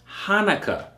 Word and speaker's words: Hanukkah: keep that in mind it's pronounced Hanukah okay dedication Hanukah same thing it is